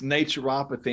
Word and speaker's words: naturopathy: It's naturopathy.